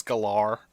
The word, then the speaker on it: Gellar: That's what I get mad when I've been pronouncing Sarah Michelle Gellar's name for like 20 years, and then she comes out and goes, actually, it's Galar.